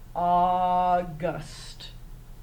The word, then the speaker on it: August: AU is making a special sound, ah. So go ahead and circle your AU, and it's sounding like short O, ah. And then when you get to this one, again, it's in the second syllable. You'll get to that in first grade, no worries. You're going to mark your U short. Put a smile over it. It is a short U.